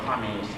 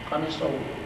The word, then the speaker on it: qamis: Some say khamis, like khamis, I mean they don't pronounce qaf well, but it is same word, qamisahu, his shirt.